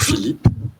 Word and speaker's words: Philippe: Mais après tout, ça se prononce aussi bien que Felipe. C'est toujours Philippe. Et ça tient au fait que le mot grec a 2 pi. C'est 2 lettres pi. Mais je ne prononce, personne parmi mes proches ne me dit « Bonjour Philippe ». Autrement dit, cette géminée n'est qu'étymologique.